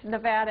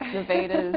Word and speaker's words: Nevada: sorry I mispronounced it well it's Nevada as a state it's Nevada as a city but uh thanks for